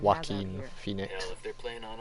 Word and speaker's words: Joaquin Phoenix: Oh, Mike was saying it's pronounced Joaquin Phoenix. Joaquin?